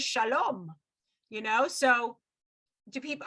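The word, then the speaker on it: שלום: an american pronunciation versus like the israeli pronunciation is shalom you know so do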